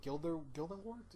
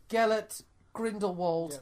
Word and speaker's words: Gellert Grindelwald: Gilder what the you saying Gilda Gilda wart Johnny that the crimes are joined oh you mean Gellert Grindelwald that character we're only gonna mention once and